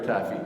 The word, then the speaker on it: Taffy: Il est né à Sainte-Catherine, fils de Patrick Pearl et Margaret Taffy. Ça se prononce Taff.